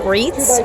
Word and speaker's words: Reitz: So that was Jeff, I think you pronounce it Reitz, R-E-I-T-Z.